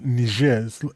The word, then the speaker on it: Niger: The other country above Nigeria is a French ex former French colony and it's pronounced nijer.